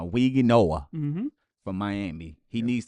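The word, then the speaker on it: Mauigoa: I'm going to go with Francisco, and I want to make sure I pronounce this right. Mm-hmm. It's Weezy Noah Mm-hmm.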